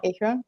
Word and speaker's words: Akron: Did I pronounce it correctly? I don't know. Akron?